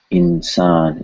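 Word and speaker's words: इंसान: It's made any way you can, and then you pronounce insan. It's still an N sound. Insan, insan. So this N sound is probably more similar to English and in end.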